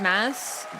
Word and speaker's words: Mads: Yeah, apparently it's pronounced mass.